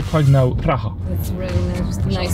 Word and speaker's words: Praha: Praha. That's really nice pronouncing.